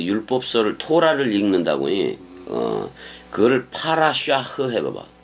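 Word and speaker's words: parashah: 그거를 파라샤흐 해봐봐. 파라샤흐라고 읽어.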